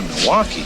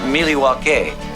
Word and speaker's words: Milwaukee: It's on the way to Milwaukee. Actually, it's pronounced Milwaukee, which is Algonquin for the good land.